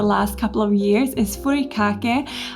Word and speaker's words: furikake: And another favorite that I've discovered in the last couple of years is furikake, I think is how it's pronounced.